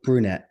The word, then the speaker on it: Brunette: name was it Andrew fernet or Burnett Andrew brunette brunette brunette all right I keep forgetting the pronunciation of his last name but I didn't